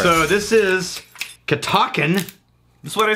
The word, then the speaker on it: Catoctin: Catoctin Creek.